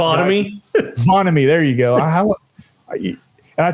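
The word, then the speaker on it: Vonnahme: I need a pronunciation. Vonamy.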